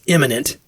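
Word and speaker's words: immanent: Like, and it's imminent. I-M-M. It's spelled like imminent, but pronounced differently. It's got an A.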